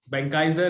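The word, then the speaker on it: Benckiser: Benkaiser is the right pronunciation.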